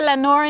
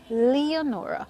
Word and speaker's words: Leonora: also teaching you um Lenora is in a sense the Creole pronunciation for it but of course the word is spelled Leonora so if we're doing um if we're practicing English you say Leonora on that note I